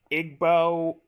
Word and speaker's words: Igbo: You're 12 years old, sitting under a mango tree in your Igbo village. What? Actually, it's actually it's pronounced Igbbo.